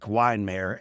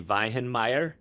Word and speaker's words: Weihenmayer: You'll need it for this one as I bring on my friend, now yours, his name, Erik Weihenmayer.